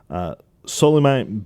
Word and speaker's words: Soleimani: assist from, also newcomer, Soleimani Baldi. That's Balde. And Soleimani? Soleiman. I think it's like Solomon, but a very odd pronunciation or odd spelling. It's like Solomon, Soleimani with an accent.